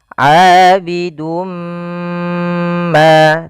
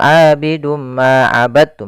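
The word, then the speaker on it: عَابِدٌ مَّا: Maka ee pada lafal ini kita cara membacanya adalah kita masukkan tanwinnya kepada huruf mim kemudian ditahan. Abidum ma tahan ma baru dilepas. Jangan langsung abidum ma abadu misalkan jangan. Tapi caranya adalah kita tahan dahulu.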